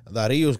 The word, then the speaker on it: Dharius: Por mi México remix, el Lefty, SM, Santa Fe Clan, Darius, creo yo que así que se pronuncia, C-Clan, MC Davo y Neto Peña, 1.1 millón de likes.